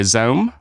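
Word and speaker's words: ZA/UM: game um developed by Zoom uh I think that's how you say their name it's spelled z a forward slash um so help me out here guys basically it sounds like a laser gun or something like that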